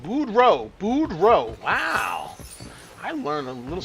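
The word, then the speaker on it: Boudreaux: It's pronounced boud row." Like row your boat. Brow. Budro.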